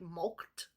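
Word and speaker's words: mulcted: Now I looked at the word milked is spelled here m u l c t e d like milked.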